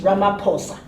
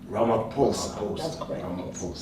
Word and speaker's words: Ramaphosa: did I say it right no you don't pronounce that okay it's so it's ramaphosa ramaphosa yes he went to Ukraine in another president